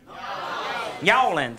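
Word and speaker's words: New Orleans: Yawlins. It's a two-syllable word.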